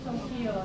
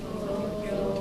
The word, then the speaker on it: Tokyo: Repeat after me. Tokyo, Tokyo, Tokyo. So you won't say Tokyo now. Tokyo.